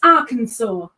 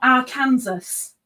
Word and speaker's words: Arkansas: learned very quickly that it's Arkansas, not our Kansas.